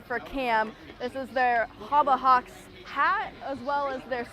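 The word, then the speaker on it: Habahax: this sign and then the Haba Hawks spelled h-a-b-a-h-a-x is spelled exactly how Kim Grandpa would say Harbor Hawks and you know Cam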